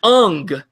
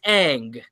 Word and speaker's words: Aang: It is not Ung, it is Aang.